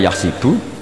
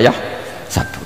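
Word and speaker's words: يحسب: Karena dalam qiraah sab'ah ada yang baca yahsibu, qiraah kita baca yahsabu. Tapi guru-guru kita kalau ngajar fikih itu bacanya yahsibu. Tapi kalau baca Quran yahsabu. Ya kan Quran kita kan ayah sabu Allah yaqdiru alaihi ahad, bukan dibaca ayah sibu.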